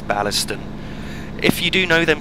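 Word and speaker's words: Baillieston: stop which is biston I'm not sure if that's pronounced quite right it's it's spelled b a i w l i s t o n sorry i e s t o n so I believe it should be biston if not then it's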